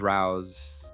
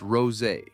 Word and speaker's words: Rouse: Rouse." Again, pronounced like House, the same way as it did her spouse. And the first thing she said to me, "It's pronounced rose.